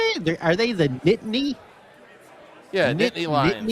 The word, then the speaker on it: Nittany: Are they the Nittany? Yeah, Nittany Lions. Nittany?